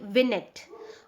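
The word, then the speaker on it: vignette: word term here we इसकी spelling तो है वी आई जी एन E double T ई एस बट we pronounce it like विनेट okay यहां पे bracket में आपको दिया भी हुआ है विनट इट्स अ two syllable word win एंड यट बट we pronounce it together together it's विनेट okay so विनेट जो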